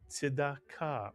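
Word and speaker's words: צדקה: It's a tzadi as the first letter, a pronounced shva under it, followed by a dalid with a kamatz, tzida, and the next syllable, ka, mitsuyan.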